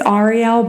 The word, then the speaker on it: Arielle: you say your name Arielle are you serious yes so so what if I call you Ariel no okay so it's like a like a aunt aunt type thing yeah I mean